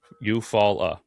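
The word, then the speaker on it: Eufaula: How do you say e u f a u l a eupola which sounds like followed by fall eupfala eupfala.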